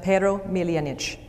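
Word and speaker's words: Pero Miljanić: So I want to tell you a story, the story of Pero Miljanic. In Croatian, it would be pronounced Pero Miljanic.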